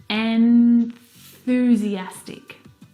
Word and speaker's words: enthusiastic: and and the tongue must come out through the middle of your teeth if you don't you will mispronounce this word and you'll say enthusiastic